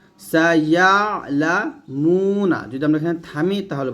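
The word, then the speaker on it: سيعلمون: এখানে এই যে আইনের উচ্চারণটা, আমরা অনেকে আইনের উচ্চারণটা একটু সমস্যা করে ফেলি, আইনটা একটু চাপ দিতে হবে।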